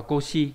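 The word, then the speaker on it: 腰: Đọc là Koshi là đáp án số mấy?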